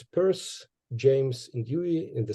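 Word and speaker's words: Peirce: so here in Ukraine this last name of Pur is pronounced as Pier and I I don't know why that's why why we were discussing something in Pittsburgh when you actually pronounced his last name is Pur I uh didn't get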